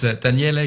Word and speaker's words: Daniele: It's Daniele, but you did it very well.